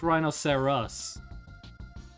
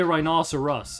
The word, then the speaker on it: rhinoceros: Rhino rhino, not rhinoseras. Even though you say rhinoceros, it's spelled rhinoceros, which I think actually have no idea what rhino means.